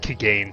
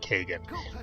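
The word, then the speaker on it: Kagain: sorry i'm sorry but that looks like kegan to me that does not look like kagan but we have heard him pronounce his own name so it is kagan we know that for a fact his name is kagan not kegan but that doesn't make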